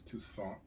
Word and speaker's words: Toussaint: So here's the other Alan Toussaint, or Toussaint, if you could pronounce it incorrectly. I believe it's Toussaint.